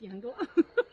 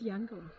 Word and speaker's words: Eungella: That's Eungella. That's the what? That's Eungella.